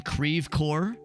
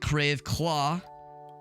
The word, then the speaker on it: Creve Coeur: After this, we're gonna go and head over and that one bar in Creve Coeur, because that's how you pronounce it. It's definitely not Creve Claw.